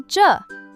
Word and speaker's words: 着: Today's absolute star of the show is the dynamic auxiliary word 着, pronounced with a light, neutral tone.